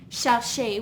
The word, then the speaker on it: chercher: If we had a word like chercher, we have 2 syllables. We have cher and she.